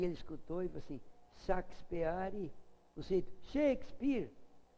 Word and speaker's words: Shakespeare: mas no num país a gente pronuncia as palavras estrangeiras procurando falar do jeito que os estrangeiros falam é Shakespeare é Shakespeare para não faz sexo gravar ninguém fala shakspeare é só tem que falava shakspeare o Rui Barbosa em